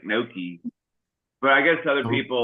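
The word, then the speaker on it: gnocchi: uh no no uh Noki or whatever that is um it's called Uh not no no you don't you don't pronounce the G what what's what's that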